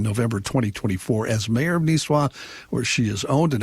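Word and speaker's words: Nisswa: John, just cuz you're going to get emails, it's pronounced Niswah. Niswah. Really? I've always said Nissa.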